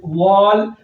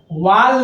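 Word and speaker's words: wall: डब्ल्यू A double L वॉल। वाल नहीं बोलते हैं, ध्यान दीजिएगा। हम लोग क्या करते हैं उच्चारण में डब्ल्यू ए डबल एल को वाल पढ़ते हैं, वाल नहीं होता है, वॉल होता है, वॉल।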